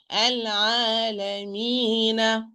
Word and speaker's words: العالمين: العالمي me no me غنة no العالمي me العالمين.